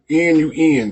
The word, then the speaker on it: Nun: N-U-N, the Nun. It's pronounced just like noontime.